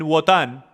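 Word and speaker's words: Wotan: Odín, u algunos lo pronuncian Watan, era el dios de sabiduría, magia y conocimiento oculto, adivinanzas, poesía y guerra.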